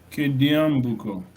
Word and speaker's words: Kediambuko: Kediambuko. Tata Allen, please. We want the long vowel, please. Kediambuko.